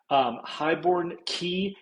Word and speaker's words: Highbourne Cay: Highbourne Cay, it's pronounced Key, but some people it looks like it's K, but it's the same thing as Key, like Key West, like a small island. Highbourne Cay is just one of